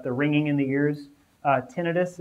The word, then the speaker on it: tinnitus: ringing in the ears tinnitus is how I say a tinnitus is fine too I don't I don't